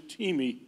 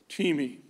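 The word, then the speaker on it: τιμή: and it's spelled t-i-m-e you would think that that is time but it is teemi teami and it means to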